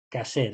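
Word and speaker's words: kosher: le llaman ellos eh se escribe coser pero se dice caser es la la comida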